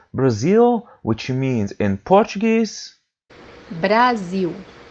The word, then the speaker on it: Brasil: this letter is pronounced as U or W in English when it comes by the end of the word. The example that we have here is the word Brazil, which means in Portuguese. Brasil, Brasil, Then we have